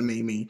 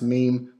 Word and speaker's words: meme: And to me, that was Mimi. So now I've got to stick with it. You know, they say it's pronounced meme, but I'm sticking with Mimi.